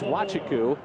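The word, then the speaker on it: Nwachukwu: football that's easy but his last name is wachiku and it's spelled n-w-a-c-h-u-k-w-u have fun with that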